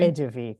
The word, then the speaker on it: Eduvie: Um, Eduvie, is that the right way to say it? Hi Dar, can you hear me? Okay. Yeah, absolutely. Oh, brilliant. It's Edu. Nice to meet you, Eduvie.